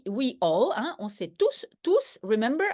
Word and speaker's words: tous: Donc, tous, we all, hein, on s'est tous, remember, I pronounce the S because it's all the people.